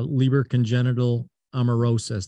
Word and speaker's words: Leber congenital amaurosis: your lead program opg x-001 to address uh libra congenital amarosis did i pronounce that correctly yes yeah so tell so